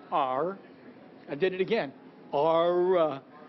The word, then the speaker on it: R: At our house, at R as in Remington House, and if you overpronounce it like I tend to do, our, it's not, it's R.